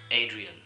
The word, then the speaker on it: Adrien: is Adrian Dean but because we are all communicating in the English language I would pronounce my first name Adrien my nickname in the